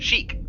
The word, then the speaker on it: Qhiq: How do you pronounce QHIQ? Chic.